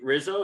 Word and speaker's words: Risso: in a big way her name is charlie rizzo am i pronouncing that correctly it's perfect yes perfect charlie rizzo so tell me how you're doing today you